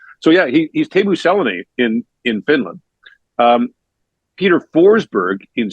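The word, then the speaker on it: Selänne: So in Finnish, the first syllable is always emphasized, and you pronounce every letter.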